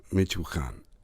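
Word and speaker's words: Michoacán: Michoacan, I think is how it's pronounced.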